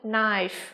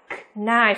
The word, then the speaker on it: knife: chúng ta có từ knife đúng không? Không phát âm là knife các em nhá, mà chỉ là gì thôi nhỉ? Knife thôi, ok.